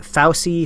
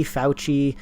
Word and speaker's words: Fauci: interview with um uh i never remember how i said to say his name was it fausi fauci yeah the the main uh